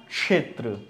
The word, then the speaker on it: क्षेत्र: इसी तरह ये क्या बना, क्षेत्र, क्या बना, क्षेत्र। ठीक है, अब इसको क्षेत्र की जगह लोग क्या बोलते हैं, क्षेत्र। तो हमेशा ध्यान रखिए कि क और श का भी उच्चारण इसमें आता है।